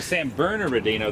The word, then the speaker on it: San Bernardino: that san burn there's another R in it San Bernardino and there's no burnt is burner Dina san burners and Bernardino San Bernardino okay the are silent but anyway so the San Bernardino there'd be an a after the second are